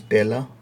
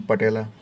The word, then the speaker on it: patella: So the kneecap bone is known as tela. P is silent, है ना, we are not reading patella.